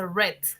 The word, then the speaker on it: read: Uno se dice read, en pasado se dice red, como el color rojo, red.